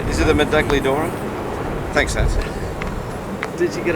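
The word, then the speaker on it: Medaglia d'Oro: Is it the Medagli Dora? Thanks, Nancy. Did you get it right? I don't know. Huh? I don't know. You don't pronounce the G. Medali or... Medaglia Dora? Yeah.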